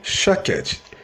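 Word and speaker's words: שקד: No hebraico, a palavra amendoeira se pronuncia shaked, e a palavra velo, que é o mesmo que vigiar, se pronuncia shoked.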